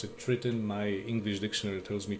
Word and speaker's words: Triton: of Triton some Americans I've heard pronounce it Triton uh some pronounce it Triton my English dictionary tells me Triton so I'll stick to that uh it's a